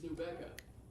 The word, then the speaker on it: New Becca: It's New Becca. Rhymes with Rebecca.